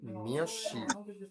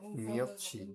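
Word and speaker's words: 몇 시: তাহলে এই মিয়াতের পরে এখানে আসছে শি, তাহলে উচ্চারণ হয়ে যাবে মিয়সি, নট মিয়ৎসি, হয়ে যাবে কি মিয়সি।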